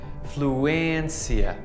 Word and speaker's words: fluência: You might be tempted to pronounce this like encia, but can you see that little hat above the E? This is like a short I sound in English, that I sound for internet. But you just need to make it a bit longer, like E, fluência, emergência.